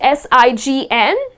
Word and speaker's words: sign: So if you look at the spelling, it is S-I-G-N, but the letter G is silent, and the correct pronunciation of this word is sign.